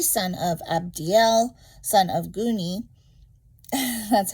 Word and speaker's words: Guni: Ahi, son of Abdiel, son of Guni. That's how you pronounce my son's hyphenated part of his last name. Guni.